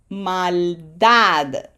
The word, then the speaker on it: maldad: So emphasis is on syllable number one. Maldad.